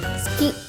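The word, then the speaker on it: 好き: Terus ski dari kata suki.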